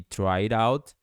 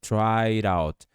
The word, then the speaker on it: tried out: E o D vai soar com o som de R quando você juntar com out, ficando tried out, tried out.